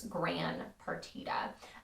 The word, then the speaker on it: Gran Partita: in someone else's hand gran was meant to be grand but the misspelled pronunciation has mostly stuck when musicians refer to the piece hence gran pertida and partita means a